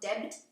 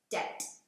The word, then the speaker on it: debt: Now, debt is when, notice the B is silent, not debt, debt.